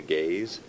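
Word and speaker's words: Gaze: He's going to call it the Gays, but it's spelled G- A Z E.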